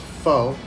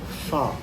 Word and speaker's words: pho: And it's not pronounced pho. It's not like forget about it. It's pho, okay?